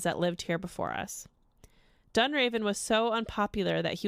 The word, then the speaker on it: Dunraven: like a villain name lord dunroven dunraven dunraven yeah why would you pronounce it dunroven you just take out all the vowels i mean i pronounce